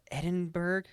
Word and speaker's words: Edinburgh: in this series, and it was backed up by the I was going to ask you how to pronounce this. What is it? It's Edinburgh.